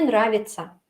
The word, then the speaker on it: нравится: Pero aún así todo eso se lee como ца, ца. Nравится, ца. Así se leen la TC.